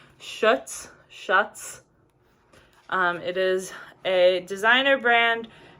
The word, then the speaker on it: Schutz: and they are by, I think this is how you pronounce it, Schutz.